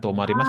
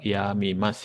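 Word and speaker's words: 止みます: Tomarimas kan gini Ya. kanjinya. Mm-mm. Tapi bacanya ini bukan tomarimas. Dia ke yamimas ya.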